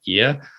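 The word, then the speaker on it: Oia: a 10-minute bus ride up to IA which is O I A that's how you say it.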